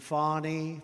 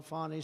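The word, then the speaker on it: Fani: including local Das and local attorney generals and fonnie faie you know fonnie spelled f a ni I my name is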